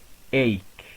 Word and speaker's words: ache: Next, we have in some English words ch, or the letters ch, is pronounced k. As we have seen before, they are pronounced k, not ch. For example, here we have ache, ache, as in headache, toothache, and back ache.